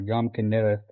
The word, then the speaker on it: Kinneret: And then if we go down to verse 11, we see the Yam Kinneret, or Yam Kinneret is the way you would pronounce that. Either way is fine.